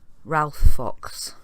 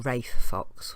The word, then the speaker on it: Ralph Fox: Right, so here's our guy, Ralph Fox, or Rafe Fox, however they pronounce it.